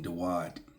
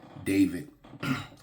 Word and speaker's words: Dawud: And we're going to talk about King Dawud, pronounced in English, David. There is no V in Hebrew, right?